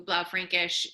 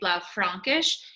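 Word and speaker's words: Blaufränkisch: bla frankish and um just in terms of pronunciation i'd like to say it is and allison is saying it 100 correctly it is but i do hear a lot of people say blah frankish it is not blou frankish even though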